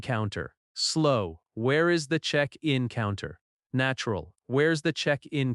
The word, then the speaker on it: check-in: check in check in Stress on check. check in This can be a noun or a verb. Example, where is the check-in counter? Slow, where is the check-in counter?